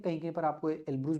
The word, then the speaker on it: Elbrus: इसके अलावा यूरोप में जो माउंट एल्ब्रस है, ELBRUS, एल्ब्रुस या एल्ब्रस, एल्ब्रस पढ़ते हैं, कहीं कहीं पर आपको एल्ब्रुस भी मिल जाएगा हिंदी के बुक में, लेकिन एल्ब्रस पढ़ते हैं। तो एल्ब्रस है।